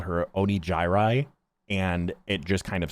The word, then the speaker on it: Onigiri: But yeah, the name is pronounced Onigiri. Onigiri. But Neuro called her Onijirai, and it just kind of stuck.